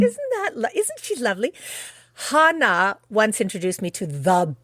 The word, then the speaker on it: Hanna: oh my God and even my name isn't actually Hannah it's Hana but feel free to